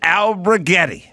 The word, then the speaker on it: Alberghetti: I think that's right it's just alberghetti albertis albertis let me just spell it for you real quick again Sly a l b e r g h e t t i after l i